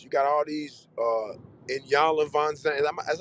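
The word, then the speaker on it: Iyanla Vanzant: So anything we know about marriage, you got all these in Yanla Von Zandt. That's how you say her name. In Yanla fix my life. Yeah, You got you Anyala, Anyala. Ayanla.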